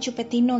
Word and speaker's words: Chupetinho: Cara bacanya Cupetinho gitu ya.